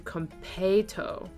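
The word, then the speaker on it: konpeitō: If you really want to know, the Japanese pronunciation is closer to kompeito.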